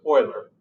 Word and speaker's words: Euler: I don't know exactly how the Swiss pronounce it, but we Americans who are not multilingual pronounce it Euler. Do the Swiss pronounce it like that? I have no idea, but I suspect they don't. But here in the United States, this is how we pronounce it.